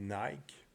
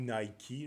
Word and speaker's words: Nike: Et puis la citation d'aujourd'hui, la phrase d'accroche, si on veut, c'est celle de la compagnie Nike ou Nike, là, tout dépendant comment vous le prononcez, qui est évidemment Just Do It.